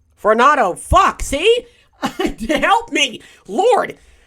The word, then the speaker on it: Varnado: Curse my dyslexia because I keep wanting to say, Varnado. I keep wanting to say Varando for some reason. That's not even how you spell it. There's not even a second A.